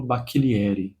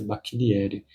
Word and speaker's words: Bacchilieri: O primeiro que eu concluí foi esse aqui, O Fan, do Paolo Bacchilieri. Ele é italiano, então deve ser Bacchilieri, a pronúncia no nome.